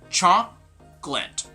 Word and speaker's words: chocolate: chocolate two syllables now when you say chocolate you're actually adding in an extra syllable which is not supposed to be there like in spelling there are three syllables but in pronunciation they're two syllables okay so this is